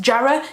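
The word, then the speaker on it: Jarrow: beat was born in Jarrell it's believed which is a place in the Northeast just near Sunland it's pronounced Jared if you're from there he lived and worked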